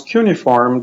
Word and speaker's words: cuneiform: home of the cuneiform if you're not sure how to pronounce cuneiform just think of a unicorn which kinda sounds similar what's different is that